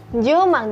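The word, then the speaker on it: 十万: Jumang, jadi 100.000 masih tetap mang ya teman-teman, tetapi kita bacanya jumang.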